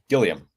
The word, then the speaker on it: Gilliam: together but also just to talk about Jim Gillum and so do you say Gillum or Gilliam how do you say it Gillian Gillian okay yeah so thanks for being on